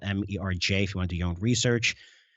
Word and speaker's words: MERJ: Again, that's spelled MERJ if you want to do your own research.